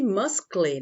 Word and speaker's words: muscle: Ó, se escreve muscle, né? Mas a gente fala muscle. Muscle.